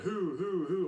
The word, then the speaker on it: Hu: or the who um the hu i guess that's how it's pronounced that's what everybody was saying at the concert it was like who i was like who